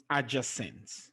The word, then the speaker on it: adjacent: the end magnificent competent but there are exceptions though and you find it in adjacent i just sense the stress is on the second syllable okay for adjacent the